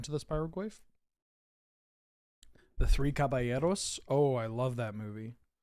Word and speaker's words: caballeros: The Three Caballeros.